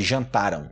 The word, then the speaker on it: jantaram: Mas só para constar que a pronúncia desse jantarão no futuro é diferente de jantaram, ok? Jantaram, jantarão, futuro. Jantaram, jantarão. Jantaram, jantarão.